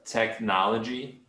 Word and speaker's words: technology: So this word technology. Yeah, technology. Yeah, the CH, it just sounds like a K.